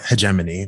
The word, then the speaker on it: hegemony: And when we say that, it's not hegemony is, or hegemony, whichever you want to pronounce it, is this masculinity shaped in dominance, right?